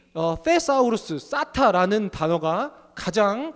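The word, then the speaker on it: θησαυρός: 여기서 쌓다라는 것은 헬라어 테사우루스로 어떤 의미를 갖냐면요, th 발음인데요, 테사우루스, 그야말로 보관하다, 저장하다라는 의미를 갖고 있어요.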